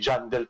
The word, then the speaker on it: Johnedel: Pero ang pronounce po talaga, silently, Johnedel po talaga.